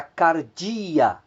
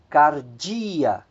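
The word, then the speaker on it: καρδία: nós temos logo abaixo três palavras cuja a acentuação ela acontece na penúltima sílaba nós temos a palavra por exemplo Ágape Ágape Amor nós temos a palavra Cardia Cardia coração e nós temos a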